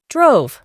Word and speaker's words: drove: Su forma en pasado simple cambia y es drove. Para poder pronunciarlo correctamente, añadimos una U muy suave adelante de la V y eliminamos la E del final. Drove.